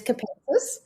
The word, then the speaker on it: Capensis: Capensis. Capensis. H thank you very much. And yeah, that is correct. It is capentus.